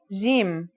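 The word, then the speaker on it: ج: Our first letter is jim. This one is easy to pronounce. It's somewhere between a G and a J depending on the accent. For example, standard Arabic, Syrian or Egyptian.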